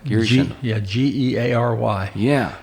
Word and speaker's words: Geary Schindel: Geary Schindel.